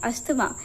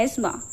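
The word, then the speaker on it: asthma: क्या वर्ड है और इसे हम वैसे प्रोनाउंस करते हैं अस्थमा लेकिन ये अस्थमा नहीं होता है। चलिए मैं यहां पे आपको बता देती हूं। इसे हम बोलते हैं एस्मा।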